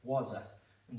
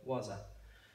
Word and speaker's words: waza: So what you don't want to do is say it like two separately or like elong the words. So it shouldn't be like wa. So wasa.